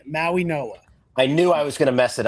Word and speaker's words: Mauigoa: I'm going to try not to butcher this name, but Mauigoa, I believe, is how it's pronounced. Maui From Noah. Maui Think of Noah. the D as an N. Maui Noah.